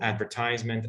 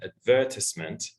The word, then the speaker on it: advertisement: So for example, for the word advertisement, as I said, both advertisement and advertisement are standard pronunciations. So yes, you need to understand them both, because the speaker might be American, might say advertisement.